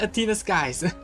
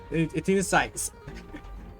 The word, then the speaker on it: Athena Sykes: But now considering right now, she's more like Athena Skies. Athena Sykes. I keep getting the name wrong, but yeah, she's more like Athena.